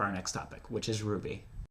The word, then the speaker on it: RWBY: case you couldn't tell Ruby in the show is spelled rwb why not like a ruby or the character Ruby yeah yes yes it